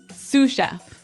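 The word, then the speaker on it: sous chef: Sue chef. Sue chef. Sue chef. Sue chef. S o u s. So, the s is silent because it's like a French word.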